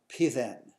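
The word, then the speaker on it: פתן: The Jewish word is pronounced pithen, but it's basilisk as it's translated into Greek and ultimately into English.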